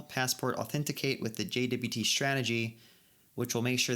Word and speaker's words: JWT: which calls the passport.authenticate jwd strategy keep pronouncing that wrong jwt okay so again walking